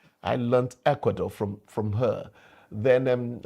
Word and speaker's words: Ecuador: I learned Ecuador from that woman. I used to pronounce it as Ekuador. I learned Ecuador from from her.